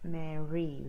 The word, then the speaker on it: merry: want to pronounce that merry the earth sound is clear or sound so your tongue doesn't have to touch the top but may really Christmas